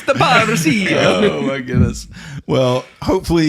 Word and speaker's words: parousia: Parousia. Apparently, you got to say it like a small Italian boy. Parousia. Parousia. You got to roll the R, and you got to go up at the end.